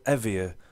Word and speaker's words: Evaer: a plug-in for Skype it's called evier I think that's how you pronouncer it's spelled e v a e r and uh it's a